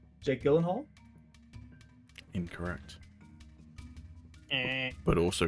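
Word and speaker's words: Jake Gyllenhaal: supposed to be pronounced Jake Elen Harle. Hey, Elen Hoola. Hey. Is that is he just taking a piss out of it or is that Well, supposedly it's some sort of Scandinavian last name and he went on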